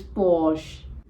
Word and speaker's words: Porsche: Ikea it is now in many countries this brand is pronounced as Porsche or Porsche but if you check in the Indian accent it is pronounced as Porsche so R and E needs to be silent and it is Posh this is pronounced